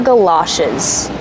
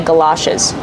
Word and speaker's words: galoshes: also call them galoshes let's talk about the pronunciation GA like up and cup Gala it's an open sound like stop and hot Gala shiz these are galoshes I don't have any galoshes do you have any